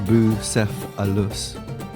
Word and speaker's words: Bucephalus: by gary w bowersock busepolis pronounced bou seth alus was alexander the great's